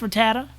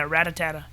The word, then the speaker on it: Rattata: It's pronounced Rattata? I always thought it was like banana, Ratatata.